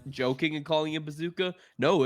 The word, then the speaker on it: Procházka: Remember last time we were like joking and calling it bazooka? No, it's straight up pronounced bazooka versus Jamal Emmers.